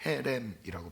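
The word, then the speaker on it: חרם: 온전히 받침 물건이란 뜻은 히브리어로 헤렘이라고 발음을 합니다데이 헤렘의 대표적인 두 가지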